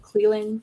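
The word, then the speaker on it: Clelin: Cleveland Farrell? Cleveland. Yep. Kerry Hyder. Cleveland without the V's.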